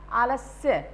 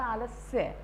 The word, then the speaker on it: आलस्य: जैसे पहला है आलस्य, सही प्रोनाउंसिएशन देखिए आप, आलस्य, आधा स है, आधा स का साउंड है आलस्य।